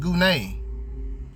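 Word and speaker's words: γυνή: As a matter of fact, see that in the Blue Letter Bible, it shows you that gune, that's how it's pronounced, gune.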